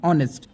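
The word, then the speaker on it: honest: तो यह गलत है क्योंकि एच यहां साइलेंट है। ऑनेस्ट में अब यहां देखो अ से शुरू हो रहा है। यह एक वोवेल साउंड है।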